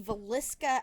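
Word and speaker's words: Villisca: so we have the valiska axe murders and that is how you pronounce that dave uh which takes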